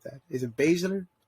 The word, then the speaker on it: Baszler: Is it Baszler? Baszler.